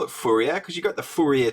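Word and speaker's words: Fourier: I would have thought the French would call it Fier Fier but I don't know I'm going to call him fua because that's how I've heard um you know like uh fua transforms just pronounced so he was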